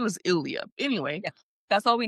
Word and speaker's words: Ilya: It's It's Ilya.